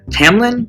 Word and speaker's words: Tamlin: her captor is not an animal but Tam Tamlin is that how you pronounce it one second yep Tam Tamlin thankfully got the pronunciation guide yay okay um where was I